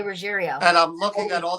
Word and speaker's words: Ruggiero: Like people pronounce my last name Ruggerio. A lot of people want to say Ruggerio. And there's even members of my family that pronounce it that way. And my name is spelled Ruggiero. It's Ruggerio. I always say Ruggerio.